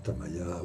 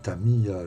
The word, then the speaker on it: Tamiya: un gars qui me gonfle parce que je prononce pas les bons, tu vois. Voilà. Alors, le dire Tamaya, ou le dire Tamiya, je dis Tamaya souvent, tu vois, donc on me fait une petite réflexion.